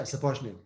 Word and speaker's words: Sapochnick: Is that the proper way to pronounce it? Yeah, Sapochnick. Perfect. Sapochnick.